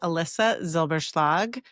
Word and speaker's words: Elissa Zylbershlag: Well, my name is Alyssa Zilberg. As you know, that can be a hard name to pronounce.